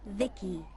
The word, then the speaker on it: VI: transistors by the way I'm VI I pronounced Vicki my Creator was Vib